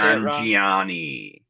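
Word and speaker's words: Nanjiani: Nan Giani.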